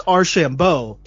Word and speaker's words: Archambault: these last two years but it's our Shambo right yes sir okay I got you